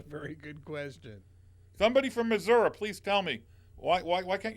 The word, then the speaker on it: Missouri: In Missouri. That is how you pronounce it, is that not? That is correct. Not Missouri. No. Missouri.